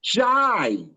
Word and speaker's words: Jai: It's Jai.